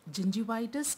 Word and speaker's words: gingivitis: Remember I told you, gum disease or the periodontal disease includes both gingivitis and periodontitis. So first, let's learn how to pronounce gingivitis and periodontitis.